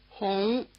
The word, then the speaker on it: Hong: uh which is not quite the same is spelled with the U in Honolulu. Try repeating. Here's the fourth one. Hong. Notice that this does not sound much like the English vowel we use for Hong Kong.